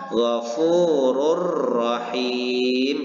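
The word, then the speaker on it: غَفُورٌ رَّحِيمٌ: Yaitu memasukkan bunyi dhammatain ini kepada huruf sesudahnya, yaitu huruf ro, dan membaca huruf ro ini seolah-olah bertasdid dan tidak disertai dengan dengung.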